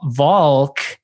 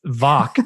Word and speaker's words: Valk: have to ask you is your last name vo valk as in the way my mom pronounces salman or is it voc as in rhymes with chalk rhymes with talk like let's let's clear that up first yeah the second talk or chalk so okay it's a